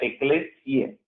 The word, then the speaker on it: Ecclesiae: Al final hay una A y una E que en latín se pronuncia E. No es Ecclesiae, se escribe Ecclesiae, pero se pronuncia Ecclesiae.